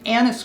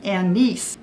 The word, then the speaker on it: anise: I've heard it pronounced a lot of ways, and we pronounced it anise growing up. Well, then I found out that it's also pronounced anise. And then from other groups, I've actually heard anise, like eyes.